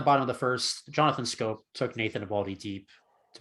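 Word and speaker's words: Schoop: And Have I quickly, been saying shoop this entire time and it's been pronounced scope? it is. It's pronounced Scope.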